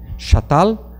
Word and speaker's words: Çatal: Chatal se escreve com C cedilha, A-T-A-L, Chatal, H-O-U, Y-U-K, Höyük.